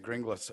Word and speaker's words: Grynglas: I was about 11 and ago I said green glass and I've been calling myself that ever since